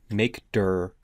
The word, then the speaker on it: mkdir: that it's empty on linux we'll use the make dur command which is spelled mkdir you can see i have also